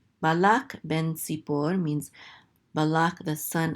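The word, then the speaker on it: בן: Okay, and we have another bet here with a segol, so this is be, and this nun sofit closes out that syllable, so this is ben.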